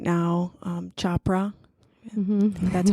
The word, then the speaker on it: Chopra: I'm reading a book deepo right now um Chopra that's how you pronounce his chpr Chopra thank you and um it talk it's mostly